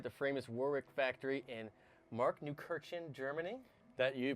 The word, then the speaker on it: Markneukirchen: Michael here again from GuitarGate, and we are at GUITCON 2018 at the famous Warwick factory in Markneukirchen, Germany. That you pronounced it right.